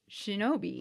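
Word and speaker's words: 忍び: of two kanji and in the native kunyomi reading it is pronounced Shinobi okay so it's one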